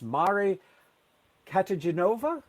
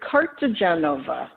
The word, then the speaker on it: Cartagenova: the fact that i may mess up the pronunciation of her last name but it's mari catagenova mari did i get that right it's close it's cartagenova cartagenova okay so but i'm going to call